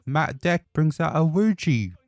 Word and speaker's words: Ouija: deck brings out a wuji Ouija board how do you say that well I forgot Ouija Ouija board that's it he brings out a